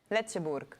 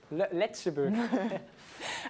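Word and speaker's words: Lëtzebuerg: Is that how you pronounce it, Luz? Luxembourg? Letzeburg. Letzeburg.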